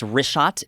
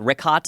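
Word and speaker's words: Richat: Yeah, in the first couple, I just want to say it's Rishot. I used to call it Rickhot. I was mispronouncing it.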